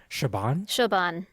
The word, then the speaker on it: Siobhan: Like a name that's been coming up that's become more popular is I believe it's an Irish name, Siobhan. Siobhan. Yeah, Siobhan. Yeah. But it's spelled not in a conventional American English way,